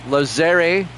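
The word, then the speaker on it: Lazzeri: there for a strike is it lazeri is that what you're trying to tell me a long a lazeri second Pitch out of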